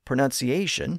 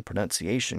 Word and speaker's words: pronunciation: Originally, it was pronounced more like pronunciation, but it had two consonants which changed through the process I described. The C in the middle and the T near the end both shifted to an SH sound.